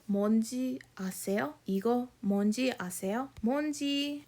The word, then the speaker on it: 뭔지: 뭔지, instead of saying 뭐인지, it's easier to condense that down. So usually it's pronounced 뭔지, like that.